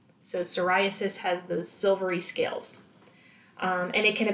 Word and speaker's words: psoriasis: Just note the spelling. It starts with a silent P. So psoriasis has those silvery scales.